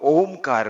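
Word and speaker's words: ओंकार: तो ओमकार में ओ नहीं है, अपितु अ उ म है, और उसका उच्चारण कैसे करना है वो जरा देख लीजिए।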